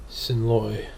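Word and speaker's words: Xin loi: Xinloi. Sin Loi. Yeah, it's pronounced S-I-N, but it's spelled Xin.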